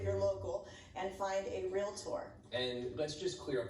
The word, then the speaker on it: realtor: local, and find a realtor. And let's just clear up this debate right now. Is it realtor or realtor? 2 syllables only. Okay. Real. Thank you. Tour.